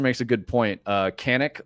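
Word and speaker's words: Canik: uh Canic or I think it's pronounced Shenik or Shenik, something like that because they're Turkish.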